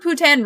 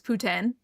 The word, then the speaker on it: poutine: The French in Quebec are the ones that say they invented it and say that the right way to say it is poutine. But everywhere else in Canada says it poutine.